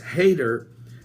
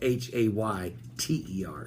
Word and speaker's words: Hayter: Now, many Bitcoin watchers, including Charles Hayter, Chief Executive Officer and founder of the Crypto Compare. Is this guy's name Hayter? Yeah, but it's spelled Hayter. So don't be hating on Hayter.